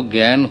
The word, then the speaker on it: জ্ঞান: কিন্তু যখন জ ইয় গ হয়, জ এবং ইয় মেশে, তখন কিন্তু আমাদের জ্ঞান থাকা দরকার এবং আমরা জ্ঞাত হই যে এখানে কিন্তু জয়েরও উচ্চারণ নেই, ইয়রও উচ্চারণ নেই, দুটো মিলে হয়ে যাচ্ছে গয়ের মতো। এবং আদিতে জ্ঞাত জ্ঞান হলেও